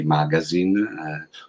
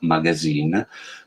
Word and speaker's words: MÀGÀZÌN: sulla parola per cui potete pronunciarlo all'inglese quindi magazine oppure oppure alla veneta e quindi mettere l'accento sull'ultima magazine oreste suggeriva anche una versione orientale e quindi magazine c'è anche un accento